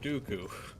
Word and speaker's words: Dooku: Rhymes with poo-poo, Count Dooku.